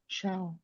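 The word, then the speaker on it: Chão: Um, when I eaten at Fogo Cow, how do you pronounce that? Um, ciao.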